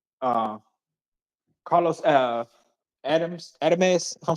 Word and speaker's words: Adames: I don't want to mispronounce his last name. Uh, Carlos Adames.